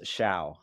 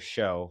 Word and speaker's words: Showe: podcast we have sha and for a long time I was calling you show so now I know you're real uh the pronunciation of your last name is Sha yeah yeah I was